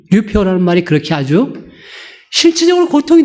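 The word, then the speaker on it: λυπέω: 발음이 류페오.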